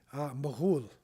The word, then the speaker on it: Mughal: So we say in English Mongol, but that's not the original pronunciation of the name. This is the Mughal.